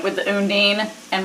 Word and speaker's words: Undine: episode 9 with the Undine and Marcel. Undine. Undine? Have I been saying it wrong? I think you have.